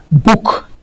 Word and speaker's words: book: Là, ici, on ne tire pas la prononciation, on est un petit peu rapide là-dessus. Ici, on dira book.